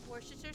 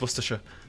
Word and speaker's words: Worcestershire: what's this your sauce worcestershire sauce she doesn't even say it properly it's worcestershire damn you are the real